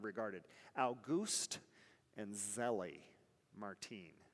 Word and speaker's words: Martin: al gust and zelly martine her last name was martin m-a-r-t-i-n pronounced martine so auguste and zele